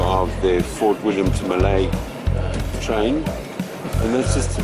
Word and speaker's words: Mallaig: So there we are in, apparently it's not pronounced Mallaig, it's pronounced Mallaig, and we're at Mallaig.